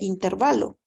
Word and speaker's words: intervalo: respuesta en notación de intervalo verdad hay personas que pronuncian intervalo pero en realidad es intervalo porque el acento recae en la penúltima sílaba no es intervalo sino que es intervalo la palabra correcta y pueden buscar ahí